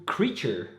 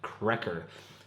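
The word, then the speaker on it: Kraecher: some more beer from creature and that is how you pronounce the name of this brewery not cracker as i said in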